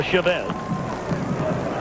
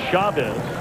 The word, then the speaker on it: Chavez: be wondering, you know, you've heard him called Chavez. And we asked him about it, and he said he doesn't really mind either way. He said, but his father has always pronounced the family name Chavez.